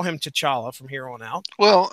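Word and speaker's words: T'Challa: have rest for referenced what did they call him in the movie was it to chala yeah or so it wasn't tala it wasn't like the CH II was silent or anything so they was like they pronounced all the consonants and syllables that were their syllables vowels consonants of mouth okay all right well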